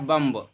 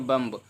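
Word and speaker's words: bomb: कम्ब, क्या लिखा है बम्ब, क्या लिखा है बम्ब लिखा है, यहाँ पे देख पाएंगे बम्ब, तो इसको हम बम्ब नहीं पढ़ेंगे बल्कि बी को नहीं पढ़ेंगे, क्योंकि बी आपका साइलेंट है।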